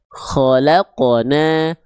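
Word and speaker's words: خلقنا: Yang harusnya teman-teman kita baca ko kho khalaqonna khalaqonna khalaqna. Nah, harusnya pantulannya seperti itu.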